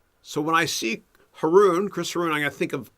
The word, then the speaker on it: Haroun: at me okay uh haroon rhymes with baboon so when i see haroon christopher and i think